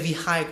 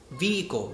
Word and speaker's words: vehicle: pronounced like the word vehicle a lot of people say we hike or something come on vehicle the H letter is silent and also like purchase